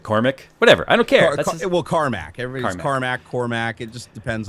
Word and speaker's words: Carmack: It's spelled Cormac, so I say Cormac. I mean, Cormac. But it's Carmack. Everybody in chats is saying Carmack. In the media, they say Carmack, apparently, for the most part.